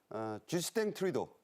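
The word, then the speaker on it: 쥐스탱 트뤼도: 넘게 10년 가까이 집권했던 쥐스탱 트리도 어 캐나다 발음은 불어 발음이 캐나다 총리가 퇴임했고 관세 전쟁이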